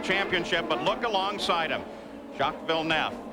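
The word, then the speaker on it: Jacques Villeneuve: Shockville Nef. By the way, the pronunciation has changed at the request of Jack himself and of other members of his teams.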